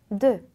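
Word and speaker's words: deux: 근데 벌리지 마시고 입을 동그랗게 오므려 주신 상태로 그렇게 고정한 상태로 돼라는 소리를 내 주시면 됩니다. 자, 그럼 발음이 어떻게 되냐면 드 드 드 드 이런 발음이 되거든요. 그러니까 숫자 2는 드 이렇게 발음해 주세요.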